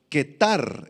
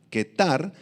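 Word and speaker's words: qetar: Esta palabra lomos, ketar en el arameo, con Q y acento en la A, ketar, se refiere a la parte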